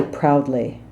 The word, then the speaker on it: proudly: proudly Americans will say proudly it's very much an owl sounds like owl I hurt myself it is not an ad sound it's not kind of